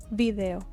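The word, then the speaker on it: vídeo: El video El video Accent on the I video the video video subir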